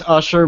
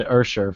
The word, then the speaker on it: Usher: It's Usher, but Ludacris in like songs calls him. No, Usher. that's why I'm saying that, because it says Usher. Yeah, it's Usher. What a moron! Isn't that how you pronounce? Yeah, I don't know. It was kind of weird because when we did, like, I forget, for some reason, me and Jake at one time said Ursher for some reason, for something.